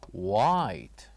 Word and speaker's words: white: which is the color white. White. So repeat after me. White. White. Excellent. So by saying this word white, what do you think the silent letter is? It is of course the letter H.